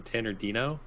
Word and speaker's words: Tannerdino: I'm Tannerdino, if you want to call me that.